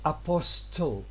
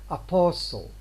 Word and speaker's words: apostle: Now look here, it's not apostle, although we have got t written, but we say apostle.